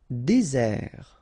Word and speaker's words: désert: Désert. Okay, remember, final T not pronounced. Désert. And really this z sound just because you get one S between the two vowels.